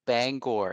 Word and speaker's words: Bangor: pronounced that correctly because sometimes people say Banger remain it's like no Bangor and you you did